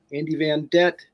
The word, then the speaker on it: Andy Vandette: E TE Andy Vanett rhymes with Corvette so you don't forget.